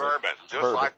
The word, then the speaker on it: Bourbon: May West and Ray barbone or bourbon or how you pronounce it bourbon okay I wasn't sure I thought